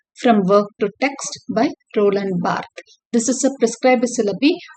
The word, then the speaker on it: Roland Barthes: to the readings of literature so this is pronounced as Roland B he is a silent okay so this essay